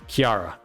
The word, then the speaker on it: Kjera: pronunciation i should correct myself on the pronunciation pronunciation is kiara kiara has got the cold slash frost mechanic